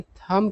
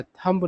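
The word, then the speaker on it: thumb: और इसका उच्चारण थम किया जाता है, थम्ब नहीं किया जाता, बी का उच्चारण नहीं होता है।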